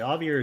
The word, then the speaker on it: Javier: Javier is pronounced with an H sound.